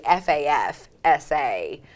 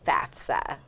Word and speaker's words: FAFSA: So the way the acronym goes, it's actually FAFSA. Most people get that a little mixed up, and that's okay, we're forgiving, but it is FAFSA.